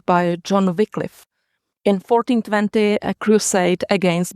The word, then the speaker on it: Wycliffe: we pronounce him Wycliffe.